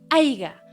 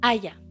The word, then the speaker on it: haya: es fuimos También tenemos el famoso haiga cuando lo correcto es haya También tenemos corristes cuando